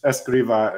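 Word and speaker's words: Escrivá: you found some uh you you've got es Esa is the right way to pronounce it I'm learning now um Jose Maria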